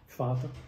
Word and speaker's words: Vater: Words like Vater and von, although written with a V, are pronounced with an F, Vater, von.